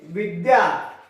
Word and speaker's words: विद्या: कुछ लोग कहते हैं विद्या, विद्या नहीं है, ध कहीं पर भी नहीं है, इस वर्ण में ध है ही नहीं, जबकि हमें लगता है कि यहां पर ध बना हुआ है, ध है ही नहीं। यहां पर दो वर्ण है, द और य, तो इसमें उच्चारण आता चाहिए द्य। ठीक है, उच्चारण क्या आएगा, ध्या नहीं आएगा, द्या आएगा, यानी द और य